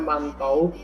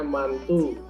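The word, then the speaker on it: Mantoux: gatal merah bengkak di Oke tulisannya mantau tapi itu bahasa Perancis Jangan dibaca mantau bacanya mantu jadi banyak yang berbahasa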